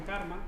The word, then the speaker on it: CCRMA: Él trabaja en Stanford en CARMA, que se escribe CCRMA, que es el Center for Computer